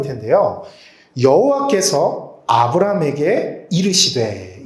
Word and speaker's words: 여호와: 그것처럼 하나님은 하나님이신데 하나님의 성함이 있다면 여호와라고 말할 수가 있어요. 이 여호와라는 말을 다르게 읽으면 야훼라고 읽을 수도 있어요. 그래서 야훼랑 여호와는 똑같은 말이에요.